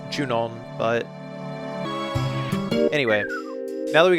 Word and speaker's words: Junon: kill and then when we get out of june on we will have the buggy on the other